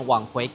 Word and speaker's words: Apurva: 我第一次看到這個名字時，一直把它念成「阿布拉」。但實際上它的全名是「阿普爾瓦」。